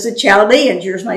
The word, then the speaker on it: Chaldeans: I am raising up, my translation says the Chaldeans, yours may say the Babylonians. And then he begins to describe them. The Chaldeans were people, we call them the Neo-Babylonians, the New Babylonians.